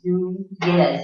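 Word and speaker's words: Núñez: It's Nunez. It's like a Y when you have the tilde over the name.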